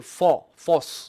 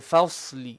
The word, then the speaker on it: الفصل: Fa is flat. Only the sword will be heavy. Don't say fos. No. Fa, so. Fa, so. Inna yawmal fasli.